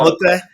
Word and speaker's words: Motte: How's that pronounced again? Motte, yeah. Motte.